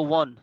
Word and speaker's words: one: Bangladesh has ওয়ান, উচ্চারণটা এই জায়গায় ওন হবে না। যারা যারা এতদিন ধরে এটাকে ওন উচ্চারণ করছো আজকে থেকে উচ্চারণ চেঞ্জ করে ফেলো, উচ্চারণটা হলো ওয়ান।